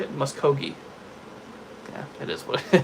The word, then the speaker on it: Muskogee: Muskogee.